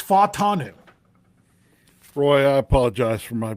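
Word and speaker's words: Fautanu: Jim had always said pronounce all the vows as their own syllables. Futanu. It's not four syllables. It's only three. So it's fatanu.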